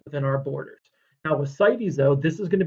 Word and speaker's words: CITES: And it's not cities. I didn't misspell it. I know I'm a terrible speller, but I did not misspell this word. It's CITES, Convention on International Trade in Endangered Species.